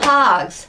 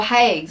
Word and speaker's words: Haigh's: this year and it's from hags or hags I never know how to say it correctly I feel feel like I should say it in a classier way which would be hugs but I think it's just hags when I go into